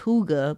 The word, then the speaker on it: hygge: They go off something, I want to say it's pronounced hygge, but it's spelled a little bit different.